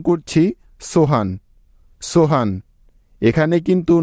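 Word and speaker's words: Sohan: এখন আমরা নামটি উচ্চারণ করছি সোহান, সোহান।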